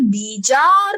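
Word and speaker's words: Bjarne: तो सुनो, कोई बी को साइलेंट करके भी बोल सकता है, बी को साइलेंट करके बोल सकते हैं। डॉक्टर जार निस्टोइस्टप बोलेगा तो भी सही है, डॉक्टर बीजार निस्टोइस्टप बोलेगा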